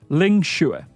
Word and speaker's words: Ling Xue: So kind of think of it like the word shoe that goes on your foot. And then a Scottish person that can't quite hear you. Eh? Shoe, eh? Ling Xue.